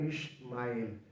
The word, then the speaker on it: Ishmael: La pronunciación más correcta en el hebreo sería Ishmael, que significa Dios escucha.